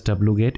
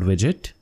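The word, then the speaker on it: wget: curl whim get widget and this is not pronounced as wgate it is called widget and then i want to install development tools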